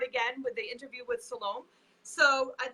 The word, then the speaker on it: Salome: we're gonna start again with the interview with Salome. So I'd like to just share a little bit of information with all of you about her. Salome is actually Oh, a it's that. what? Oh, it's Salome.